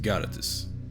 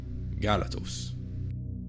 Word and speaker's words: Galatos: Let's take the word for goish in gish. Galatoss. It's not pronounced Galatus. Galatoss.